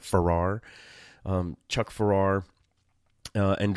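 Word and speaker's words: Pfarrer: um the writer uh Chuck Ferrar PFA r r a r I think you would pronounce that Ferrar um Chuck Ferrar uh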